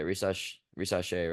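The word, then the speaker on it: Risacher: Rishasse, uh, yeah, Rishasse, right? That's how you say it.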